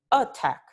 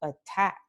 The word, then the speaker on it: attack: We don't say attack, right? It's not the first vowel that is accentuated or stressed. It is this vowel, the second vowel, attack.